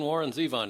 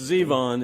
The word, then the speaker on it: Zevon: I've always wanted to call him Warren Zavon, too. It's always been Warren Zeon to me. It's Zevon.